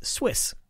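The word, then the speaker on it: SWUIS: Southwest ultraviolet Imaging system which goes by an acronym that I'm going to pronounce as Swiss Swiss got its name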